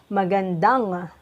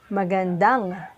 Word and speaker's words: magandang: gonna put the ligature angie and it is pronounced as magandang can you say it magandang correct and now we will put arou can